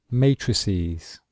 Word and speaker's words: matrices: So listen to the pronunciation. Matrix, matrices.